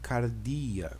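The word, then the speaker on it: καρδία: a palavra Cardia perceba eu tenho CAD capa o A de Alfa esse pesinho é o Robson de R então Car o d o delta né o iota e o alfa que vai me dar a posição sonora do grego cardíaca né e cardía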